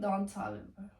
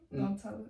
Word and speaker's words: Don Toliver: Oh, I like Don Toliver. Okay. I don't know if that's how you say it. Don Toliver. It's close to it.